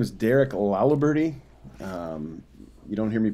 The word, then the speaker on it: Laliberte: having me jordan um my name is derek lalaberti you don't hear me pronounce my last name too often because i